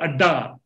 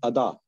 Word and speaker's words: Ada: How this thought of Adda, apni dunya, apna ashiana, came to your mind, and how are you doing about this? It is actually the pronunciation is Ada.